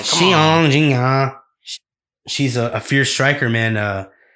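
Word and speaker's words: Xiong Jingnan: Xiong Jingchang. Wait, I said that one wrong. My bad. You said it wrong. Come Xiong Jingya.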